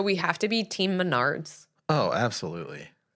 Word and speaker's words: Menards: was like reading a Menard's commercial ad and she pronounced it Minards Minards yeah oh no it was so funny Menards Minards I don't know people